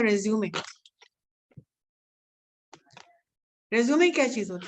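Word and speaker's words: résumé: सबसे पहले तो रेज्यूम एंड रेज्यूमे में फर्क देखिए.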